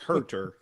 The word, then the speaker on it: Huerter: name right kevin huerter kevin how do you say his name well i'm a close hurter i believe yes for